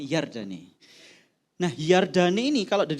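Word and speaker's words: ירדן: kata Yordan di dalam terjemahan aslinya itu adalah yardane apa saudara yardane bacanya yardane nah yardane ini kalau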